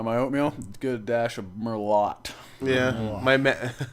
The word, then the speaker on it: Merlot: this guy likes a dash of Merlot on his oatmeal in the morning.